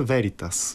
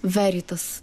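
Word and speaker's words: veritas: и виница веритас точно така как е правилното ударение наистина на лати и виница веритас веритас добре ахил е българин а така както е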